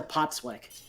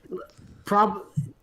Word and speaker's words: Postwick: Yeah, well, there is no path out of Wedgehurst except to go back to Potswick. Yep. Postwick. Whatever. Although, Postwick is probably the more proper, like, British pronunciation, actually.